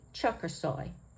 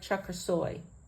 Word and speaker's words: Çakirsoy: would be pronounced similar to Chuck or soy so it would be chucker soy if we want to pronounce it really correct I think there's an accent more on this last syllable than on the other two so it would be